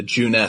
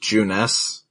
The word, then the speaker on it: Junes: Also, it bugs me that it's pronounced Juness, but in the subtitles it's just spelled Junes.